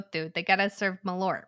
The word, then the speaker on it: Malört: have a shot of malore together malort yeah you didn't pronounce that te nearly hard what am I what